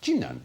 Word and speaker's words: Jinan: The city of Jinan, spelt Qinan, but pronounced Jinan in China, is about the same